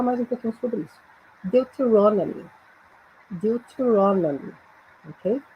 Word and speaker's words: Deuteronomy: Deuteronomy. Deuteronomy. Ok? Eu até sublinhei aí a sílaba tônica.